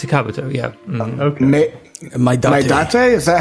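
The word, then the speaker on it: maedate: It's Madate. Madate. Madate? Yeah. Madate. Would you be my date? Oh, he's got a Maidate.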